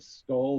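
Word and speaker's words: skál: like a mean face it's s-k-a-l that's how you say cheers in iceland it's sort of like the what's the viking one like skull or yeah it's scowl that's how you actually pronounce it it's just ironically enough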